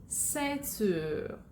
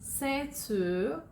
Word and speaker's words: ceinture: সো সির পরে যদি ই আই বা ওয়াই থাকে তখন সিটার উচ্চারণ হবে অ্যাস এর মতো।